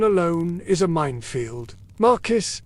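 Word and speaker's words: marquess: Marcus is not Marquest.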